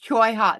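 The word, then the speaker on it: cholla: It's Choya. That's That's it. I never knew how to pronounce it.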